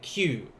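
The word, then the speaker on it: きゅ: Now, when I make it smaller, like I did when I first wrote it, ki and a small u, it turns it to only 1 syllable. And that 1 syllable is like blending the ki and the u together. You get Q.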